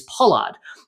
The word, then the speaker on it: Pollard: lot of times, because we pronounce R's as A's, right? My last name is Pollard, but everyone here pronounces it Pollard, right? Because they pronounce the R so much stronger.